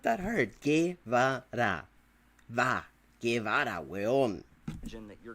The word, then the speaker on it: Guevara: You can pronounce the name right, motherfucker. It's not that hard. Guevara.